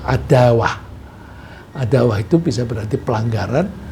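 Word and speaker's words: عداوة: Terus kalau dijadikan kata benda, kalau bahasa Inggris itu germ, itu bacanya adawah.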